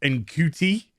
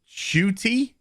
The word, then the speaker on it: Ncuti: next doctor who's going to be what i mispronounced as in cutie it's actually pronounced shuty uh gatwa somebody who i'll just be completely